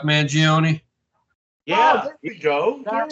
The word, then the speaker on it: Mangione: So, but right now, I like to talk about the Luigi Mangione. Oh my God, Phil, you're Italian. How do you say that name? Will you ever hear of Chuck Mangione?